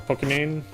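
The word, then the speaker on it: Pokimane: or uh um what's your name uh or pokemane that's how you pronounce it um i had to mention that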